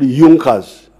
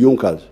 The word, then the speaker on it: Junker: group in prussia called yunkas they are written as junkers but they are pronounced as the yonkos these were big producers